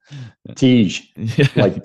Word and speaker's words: Tiege: Tiege.